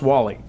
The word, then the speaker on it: Warley: were uh talking before your name is actually spelled w a r l e y but it's pronounced Wall-E yes the r is silent okay yeah I no